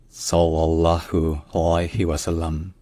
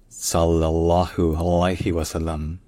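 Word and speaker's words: صلى الله عليه وسلم: C'est déjà de retenir que tous les L sont doublés. C'est-à-dire que, chaque fois que vous entendez le son de le, essayez de prononcer plus long.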